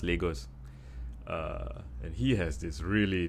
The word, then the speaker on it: Lagos: It's pronounced Lagos.